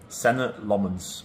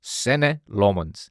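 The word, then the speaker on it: Senne Lammens: How would you pronounce your name? Senate Lmens. Sen Lmonds.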